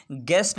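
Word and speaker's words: guess: गेस्ट है, यहाँ पर हमारे पास GUEST गेस्ट, यहाँ पर यू फिर साइलेंट है।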